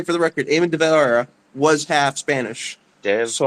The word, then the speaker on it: De Valera: by what would let's say for the record, Eamon de Valera was half Spanish, De so I can get away with it.